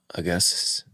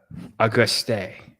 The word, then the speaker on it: Auguste: And then for my How do you say your name, Augustus? It's Auguste. No, I think he means Link.